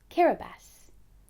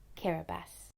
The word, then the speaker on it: Kiribati: a tiny group of islands called Ding that's pronounced kabas let's say it together one more time kabas kabas has a population of over 100,000 it's made